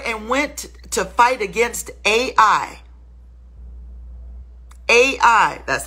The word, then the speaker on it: Ai: they left there and went to fight against A.I AI That's how you pronounce that's the word a letter A the